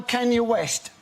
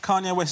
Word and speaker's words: Kanye West: Is it how many of the words spoken by Kenya West are about Kenya West? Can you The way you pronounce Kanye West is incredible. It's like you're asking somebody if they're able to west.